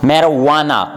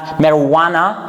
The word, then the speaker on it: marijuana: It is commonly been mispronounced by people, but the correct pronunciation for this word is what? Marijuana. Marijuana. We have marijuana. Marijuana is it's something like people, they use in cigarettes.